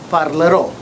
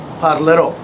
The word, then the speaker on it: parlerò: Io parlerò. Okay, so that AR becomes ER. So I would say io parlerò. Again, the grave accent over the O. Parlerò. And the emphasis is at the end.